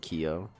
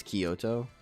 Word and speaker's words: Kyoto: Most people pronounce it Kyo.